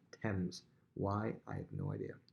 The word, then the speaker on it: Thames: you see this word looks like it says thames t-h-a-m-e-s looks like it says thames river it's actually pronounced thames why i have no idea the thames so